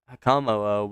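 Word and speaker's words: Hakamo-o: I want to say it's like hakamo, but that's not right.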